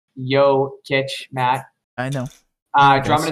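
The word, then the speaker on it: Jokić: brooklyn definitely grant um his name is pronounced yo kitsch matt i know uh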